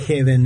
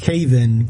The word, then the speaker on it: haven: No es heaven, es haven. Claro, son dos palabras con una letra de diferencia.